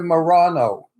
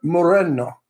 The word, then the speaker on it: Moreno: Rita Moreno that's it people say Rita Morano or Marina or Moreno it's it's Rita Moreno that's how you say it in Spanish um what is the